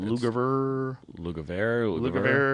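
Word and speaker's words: Lugavere: Lugaver.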